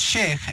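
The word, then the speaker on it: Sheikh: but I'm just like there's no way it's pronounced she so yeah well it's Sheik and and the thing is yeah a shake a shake can mean a lot of things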